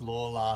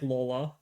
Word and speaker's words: Lawler: because I only probably learned now that his name's pronounced laa yeah I only learned everyone thought but yeah it's laa yeah he I think